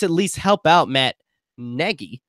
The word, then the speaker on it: Nagy: to Chicago just at least helped out Matt Nagy not naggy which which is weird for me saying Negi I know we pronounced a lot of people pronounce that name